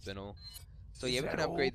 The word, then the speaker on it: spinel: But it is spinal, what are you so. Buying? Next time someone asks you, or, you know, if you come across it, it's pronounced spinel.